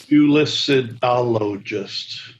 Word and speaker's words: culicidologist: Culicidologist. 6 syllables.